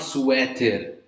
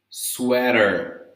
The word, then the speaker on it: sweater: Not sweater. Sweater. Okay? Same as what we talked about water, about butter, about watermelon, right?